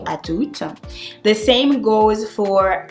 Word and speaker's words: à tout: The only thing is that you need to make sure you pronounce the final consonants. Otherwise, it won't make any sense and people won't understand you.